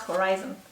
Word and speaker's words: horizon: I love the way you pronounce horizon. Horizon. Sorry. What's the point? It's cute, right? One needs to pronounce the H.